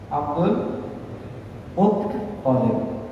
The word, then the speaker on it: Abdul Muttalib: Nabi Muhammad SAW putra Abdullah putra Abdul Muttalib. Sekali lagi saya ulangi, Abdul bukan Muttalib. Ya, sebagian orang salah. Abdul tasydidnya ada di ta.